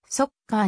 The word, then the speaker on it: ソッカー: 年となるなおサッカーではなくそっかーなのは発音はそっかーに近いという初代首相はまら